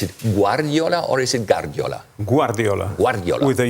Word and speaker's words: Guardiola: How do we Pep, okay, I think it's okay, but how do you pronounce Guardiola? Is it Guardiola or is it Guardiola?